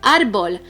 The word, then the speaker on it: árbol: The word árbol, which means tree, do we say it as árbol or árbol? We say árbol. The strongest syllable is the second to the last, and that's why it is una palabra llana.